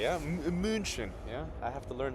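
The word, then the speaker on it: München: We are live from Munchin, as the locals say. Yeah, Munchin.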